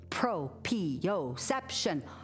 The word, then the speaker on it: proprioception: The word for where our body is in space is called proprioception. 5 syllables. Everybody do a shaky, shaky wave for us. 5-syllable word. Boop, boop, boop. Proprioception.